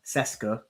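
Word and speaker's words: Šeško: Sometimes I know you've seen it above that S. has that like V sort of thing. Cesco, but yeah, we'll just call him Cesco because it's not it's easy to pronounce pronounce that way.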